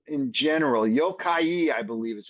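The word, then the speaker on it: 妖怪: Yokai, I believe is how you say it's Yokai. And would that be pronounced Yokai or what Yokai?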